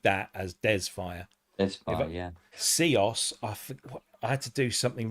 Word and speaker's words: Seos: So Seos is one of our own brands, SEOS, but it's a word. So it's a made-up word, but it's our word. It's our brand for this particular technology. And it's Seos.